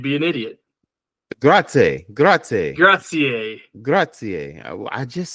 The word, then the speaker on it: grazie: So so like if I'm gonna spell something for you and I want you to pronounce it. Okay, you ready? Okay. Grazie.